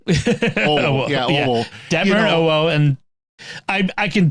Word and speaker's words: Owo: I can think of Detmer and Timoan, or however you pronounce her name. Owo. Owo. Yeah, Owo.